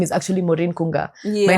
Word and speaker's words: Maureen Kunga: to people and saying my name is actually Morin Kunga my name is not Min Elani you